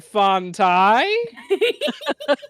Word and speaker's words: Fonai: said like that great what's your last name fonai are you not sure are you asking a question no no that's just how you pronounce it yeah it is in